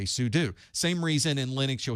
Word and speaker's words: sudo: doing something you're doing something so I say sudo same reason in Linux you'll hear people say